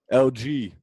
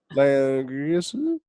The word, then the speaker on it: Langrisser: LG. Yo, you been playing LG? What do you mean? Langrisser? That's not how you say it.